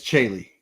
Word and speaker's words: Celi: It's Celi. And that's Italian.